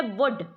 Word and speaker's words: would: कई बच्चे इसको गलत पढ़ते हैं, वुल्ड बोलते हैं, वुल्ड नहीं है, ये है वुड।